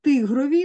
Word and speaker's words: тигрові: Мережі наголос має бути на другий склад, камбала наголос має бути на перший склад, і тигрові наголос має бути на перший склад.